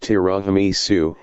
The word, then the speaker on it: tiramisu: Tiramisu, pronounced tiramisu, is a popular Italian dessert that consists of